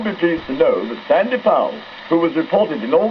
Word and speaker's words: Sandy Powell: This one is Sandy Powell at the North Pole. Yes, that's how you pronounce his name, viewers.